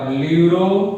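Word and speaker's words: pleuro: पीपीएलओ मतलब ल्यूरो, full form है इसका ल्यूरो, पी साइलेंट है, ल्यूरो निमोनिया, पी साइलेंट है, लाइक ऑर्गेनिजम्स।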